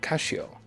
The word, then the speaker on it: Casio: But did you know that even in Japan, they don't pronounce it Casio? They still call it Kashio.